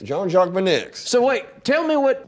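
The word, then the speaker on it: Beineix: know I B I looked it up it's pronounced benex John jock benex John jock benex so wait tell me what what what you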